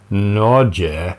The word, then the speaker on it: Nezha: It's this kit, the Neza Pro Sports Kit, and I think in Chinese that would be pronounced as Nezha, 哪吒， but my Chinese sucks.